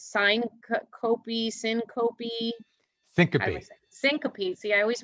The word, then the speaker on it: syncope: And so the next one, Chief, I'll say it wrong. So it's syncope.